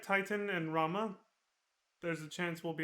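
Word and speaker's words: Ramuh: Again, just like Rama. Or Ramu, however you want to pronounce it, because Gladio says Rama for some reason. Well, he's not the only one. Everybody here pronounces it Rama.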